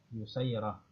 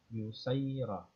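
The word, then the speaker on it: يسيرة: An yusayrata bi dhammil ya al-musannati taht. Ya, jadi begitu cara bacanya. Ya, ya dhamma, ya, yusayrah wa fathis sin al muhmalah, ya, dan sinnya itu di fathah, dibaca fathah. Jadi yusayrah.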